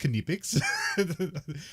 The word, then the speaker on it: Knipex: It's pronounced Knipex. And so I say Knipex now, and then like sometimes I'll say Knipex around people, and they look at me weird.